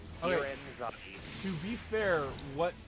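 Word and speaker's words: Ghiren: Yeah, the H is silent. There was an H in that? G-H-I-R-E-N. Okay. Giran Zaki.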